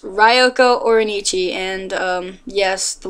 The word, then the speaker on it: Ryoko: my main character's name ryoko um but actually it's pronounced ryoko like rye bread um and no I